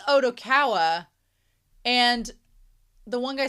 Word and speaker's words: Odokawa: the one guy says, "Oh, your name's Odogawa." And he's like, "Odo." And he's like, "It doesn't matter. You're the only one who cares about that detail." That part was weird. Why did he say his name differently? Because he wrote Odokawa.